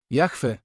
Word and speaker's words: Jahwe: Je Jeśli je znasz Jahwe dziecko wypowiedziało to imię zmiękczający i wydłużając pierwszą spółgłoskę A dlaczego modlimy się